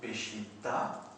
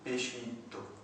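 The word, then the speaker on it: Peshitta: Vous avez le pendant oriental qui prononce en A, d'où Péchita, et puis le pendant occidental qui prononce en O, d'où Péchito.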